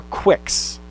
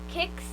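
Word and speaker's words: Qix: It's Q-I-X. There's no U. You need the U to make the Qu sound, right? Yeah. So Q-A-T is cat. It's not cat like meow the animal, but that's what Q-A-T spells. Meow. How would you pronounce that word? Kicks.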